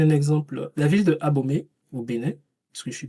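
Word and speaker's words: Abomey: Abomé euh ça veut dire euh au sein des fortifications parce que la bonne prononciation c'est abomé. Ça c'est difficile à prononcer mais abomé.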